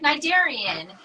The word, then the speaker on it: Cnidarian: that starts with a C how do you pronounce it she's like nigarian and it's like the classification of jellyfish and